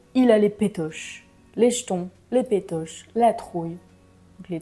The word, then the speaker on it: jetons: là avoir les jetons qu'on va prononcer comme j'ai les jetons il a les jetons un peu comme ch cheton c'est la même chose